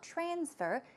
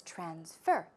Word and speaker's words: transfer: used as a verb the stress goes right there on the second syllable it's not transfer its transfer verb transfer it means to